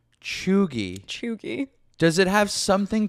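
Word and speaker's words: cheugy: like a spelling can you like can you spell it can you spell chugi like what to spelling me can I have a definition um c h e u g y chugi chugi does it have something to do with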